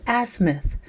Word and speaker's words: azimuth: It's azimuth. We don't emphasize the ass, although I would.